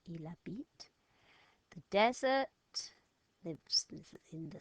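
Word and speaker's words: il habite: to say it lives eel a beat remember the H is silent ela beat the desert live in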